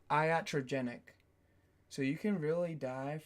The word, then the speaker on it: iatrogenic: And its pronunciation is iatrogenic. Iatrogenic.